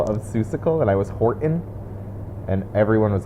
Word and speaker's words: Horton: seussical and i was horton and everyone was like there's a t in that word and i was like i'm saying it yeah horton horton and they're like you're